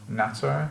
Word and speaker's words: natto: Now, natto or natto. Natto. That's how you have to pronounce it apparently.